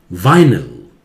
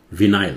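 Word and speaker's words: vinyl: वाइनल, विनाइल नहीं, इसे बोलिए।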